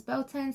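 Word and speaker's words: Beltane: some people pronounce this beltones some people pronounce as Beltone um either or beautiful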